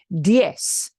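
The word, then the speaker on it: diez: a diphthong again yes in Spain that is pronounced death with the th at the end the Z at the end sounds like a t h diff okay but Latin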